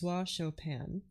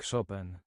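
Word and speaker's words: Chopin: me just copy it from Wikipedia here fris chopan you ready you're not ready for this French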